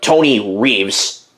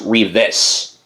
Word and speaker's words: Reeves: actually plays on here I called him Tony Reeves and it's actually pronounced Reeve-is.